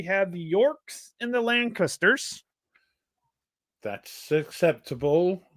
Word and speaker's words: Lancaster: So we have the Yorks and the Lancasters. That's acceptable pronunciation. Yeah. Don't say Lancashires. I didn't say Lancashires. Oh, I said Lancashers. Lancasher. Lancaster. Yes.